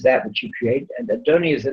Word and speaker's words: Adonai: How do we say that word? We say that word as Adonai, right?